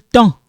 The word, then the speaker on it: temps: Quel temps? We don't pronounce this. Don't worry about this S. This one we don't pronounce it. But make sure you write it. Okay, you have to write it.